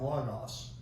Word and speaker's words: logos: The beginning was the word the but we say it logos but it's more like logos. It's lambda omeicron omicron gamma omega alpha is the way it's spelled and but so I pronounce it the